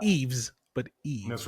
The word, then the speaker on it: Yves: Who is Eve? So Not Eves, but that's Eve. right. The S is silent. Make sure you get that right.